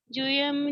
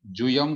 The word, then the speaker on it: जूयं: दुहियंपि मोक्ष हेउं जाने पावणदिजं मुनि नियमा तमहापयत् चित्ता जूयं झाणं समभ्यसः। बहुत अच्छा। चौथे चरण में जुयम को थोड़ा सा बड़े उकार की मात्रा का उच्चारण करना है, दीर्घ उ जूयं है।